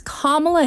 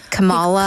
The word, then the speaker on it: Kamala: lying KLA Harris and he continues to mispronounce her first name I know it's kamla Harris he calls Kamala Kamala he keeps on doing it on purpose come on right which